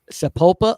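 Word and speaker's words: Sapulpa: of uh single digit temperatures yeah I'll bet sapopa Oklahoma and you said it right amazing I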